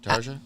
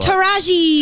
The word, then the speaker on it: Taraji: Tasia? Yeah, Tarja? I don't know how to pronounce her name. Oh, What? Taraji. Taraji.